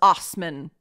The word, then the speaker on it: Assmann: who knows number two Hans Osman and it is spelled ass man just FYI Hans Osman was